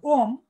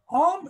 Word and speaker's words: Om: If you take the word Om itself from our Mundaka Upanishad, it has three syllables, A, U, and M. And beyond that, A is the lower world, U is the middle intermediate world, and M is everything.